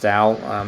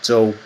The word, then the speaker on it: Tao: talking about pronunciations anyway, it's not really pronounced Dao. It's a Chinese name, and I'm Chinese American. The actual Chinese pronunciation is Zhou. A lot of people really can't pronounce that, so I kind of just go with the anglicized pronunciation of my name.